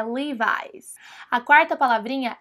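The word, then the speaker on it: Levi's: procurando por essa loja se você falar leves leves eles não vão entender nada então você fala Levis livis mas aqui no Brasil pode continuar falando leves né Para ninguém falar que você tá pagando aí de Gringo mas o jeitinho certo mesmo é levies a quarta palavrinha é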